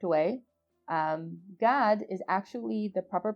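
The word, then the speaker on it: גד: the correct way um god is actually the proper pronunciation of the tribe of how people like to say in english gad it's not in fact gad it's pronounced god so next time you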